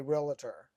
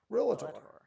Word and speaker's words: realtor: How do you as a realtor feel about me calling you a realtor?